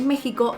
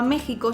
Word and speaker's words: México: Como hemos visto en el diccionario panhispánico de dudas de la RAE, México antes no se pronunciaba México sino México, pero en